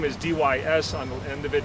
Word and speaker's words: Dys: You got to spell it right in front of the boss. My name is D-Y-S on the end of it, D-Y-S Dys.